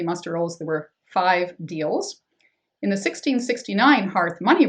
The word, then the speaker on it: Deal: but because they actually the family originated in Scotland the pronunciation would have been the way we say Dale now so in that 1630 muster roles there were five deals in the 1669 Hearth